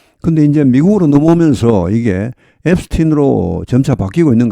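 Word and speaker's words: Epstein: 앱스틴 합니다.이 사람에 대해서는 물론 미국 사람 중에서도 앱스타인 하는 사람이 있습니다. 그건 어쩔 수 없습니다. 근데 대부분이 앱스틴 합니다.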